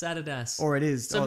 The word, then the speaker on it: Adidas: Americans call it Adidas. Yeah. Incorrect. It's Adidas. Or it is. So or maybe Lüt Crate is actually pronounced Lüt Crate, and they're like, finally, somebody gets it.